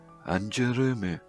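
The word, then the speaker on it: ANGERME: There is one, uh, their name is written, A-N-G-E-R-M-E. A-N-G-E-R-M-E, is it anger me? Or is it an germe? Uh, um, well, the way they actually pronounce it is anjurumu. So yeah, that is supposed to be anjurumu.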